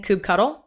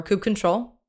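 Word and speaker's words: kubectl: I'm gonna be using coop cuddle or coop control pronouncation preference - oh really up to you whichever one you want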